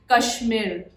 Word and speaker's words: KSHMR: I am pronouncing it as Kashmir. Or Kash, because you know, dimag mein pehle aata hai Kashmir, but Kashmir, I hope that's how this artist's name is pronounced.